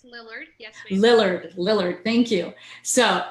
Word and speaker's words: Lillard: It's Lillard, yes.